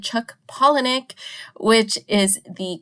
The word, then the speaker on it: Palahniuk: Yes you heard it right I said Chuck pollinic which is the correct pronunciation of the author as you will recall